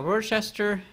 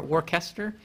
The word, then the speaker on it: Worcester: Worcester, or Worcester. I would pronounce it Worcester, though. Massachusetts. It might be Worcester.